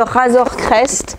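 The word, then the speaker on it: Razor Crest: c'est celui-ci c'est le razer crest ou réseau reste si on le prononce bien en anglais c'est le 7 75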